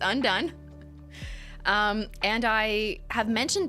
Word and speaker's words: Undone: gun kelly's undone lacquer that is how you say it not ondian un on the end no it's undone um and i have